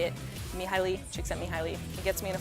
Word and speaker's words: Csikszentmihalyi: it yourself that's actually how you say it me highly Csikszentmihalyi he gets me in a flow just to